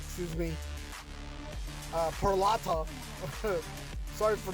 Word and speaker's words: Peralta: Milwaukee Brewers opted to retain star pitcher Freddy Perella Perila, excuse me, uh Peralta. Sorry for mispronouncing that name.